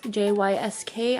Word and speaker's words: Jysk: pillows, are from Jysk, J-Y-S-K. I still don't know how to pronounce it. I pronounce it Jysk. People say it's Jysk. People just spell it out.